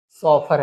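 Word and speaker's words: chauffeur: है ना, लिवरिड सॉफर, इससे है ना, इसका जब प्रोनाउंसिएशन है, इसका प्रोनाउंसिएशन सॉफर है।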